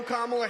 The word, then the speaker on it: Kamala: do you pronounce it first you say comma like a common sentence then he say la